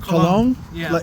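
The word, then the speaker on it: Colón: you for helping Javier your last name is uh cologne it's spelled it's spelled c o l o n but it's pronounced like cologne also on his website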